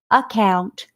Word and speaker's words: account: syllable dot in between account is one of those words we said the first one you do not hear we underlined it twice because it's silent you hear the second